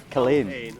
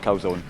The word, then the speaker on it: Culzean: Culzean. Culzean, not Culzean. Not Culzean. Not Calzone.